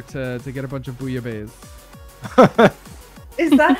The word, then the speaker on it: bouillabaisse: Connor's husband earlier to get a bunch of bouillabaisse. Is that how you say it? Yeah, Rhett's name is pronounced. You mean bouillabaisse? Yeah, that. I know Rhett's name. We were calling it boubalaise for a while, and I really enjoyed that.